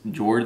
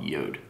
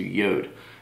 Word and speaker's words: Jord: looks like it says Jord like that's how it's spelled j o r d but it's actually pronounced um yod so yod and um they're actually